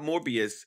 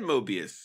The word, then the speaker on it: Mobius: you say his name it's like a Mobius strip you know what a mobus strip is right I said Mobius you said morbius okay isn't that the